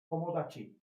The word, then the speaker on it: tomodachi: That highlights very well how you break down your syllables. You know an end of a syllable because there's a vowel attached. Tomodachi, tomodachi, da da da da. Nice rhythm.